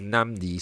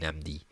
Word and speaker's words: Nnamdi: Leo is asking is namdi sorry if I butchered um okay so his name is nam d as in D the letter D namdi um Butch's name here